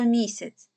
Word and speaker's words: місяць: буде наголошеним гукаємо слово місяць куди падає наголос на перший склад тому саме перший склад